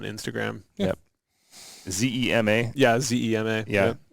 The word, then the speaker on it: Zema: Yeah, Zema. Yeah. Sounds like the drink, but it's spelled different.